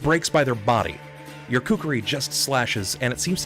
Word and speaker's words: kukri: Oh my god, you're gonna have to pronounce it for me. Is it kukri?